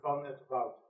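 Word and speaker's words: van 't Wout: So, my family name, you pronounce it as Van et Wout.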